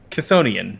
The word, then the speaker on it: chthonian: Chthonian, yes. How do you spell that?